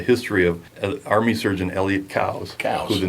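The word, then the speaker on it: Coues: not how you pronounce cow's whitetail, and then we all laugh about it, And so Yeah. he actually likes when people, I think, Cows? challenge him a little. It's Cow? cows, not coos.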